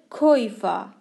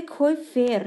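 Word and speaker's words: Käufer: در کویفا، در کویفا. یه نکته ریز دیگه همینجا هست که بهتون بگم، نوشته شده کویفر، چرا من میگم کویفا؟ توی هختوش ای آر آخر کلمه رو ار تلفظ نمی کنن.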